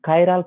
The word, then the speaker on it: chiral: that particular carbon is called kyal carbon or chal carbon okay the pronunciation is different which one do like you can use that one okay so huh that's